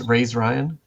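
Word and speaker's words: razeryan: pronounce my own name I'm going to say it's raised Ryan uh so r-a-z-e r-y-a-n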